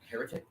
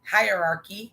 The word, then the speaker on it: hierarchy: In biology, a dominance how do you say that word? Heretic? Hierarchy. Oh, hierarchy.